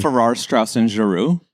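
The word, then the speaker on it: Farrar, Straus and Giroux: Ferrar Strauss and Giru.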